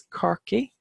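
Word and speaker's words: Corcaigh: people of care we have cork which is car key to Cork and that's a marsh just speak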